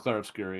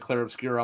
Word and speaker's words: Clair Obscur: It's just Clair Obscur, yeah. Okay, because I know you had mentioned something, and I was like, oh shit. Yeah, Silken, it made me think that it was not pronounced like that. And when I asked him, he said Clair Obscur.